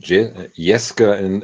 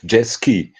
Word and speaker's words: Jeske: is the first one, and Jeske in German, Jeske, but the English people Americans say Jeski.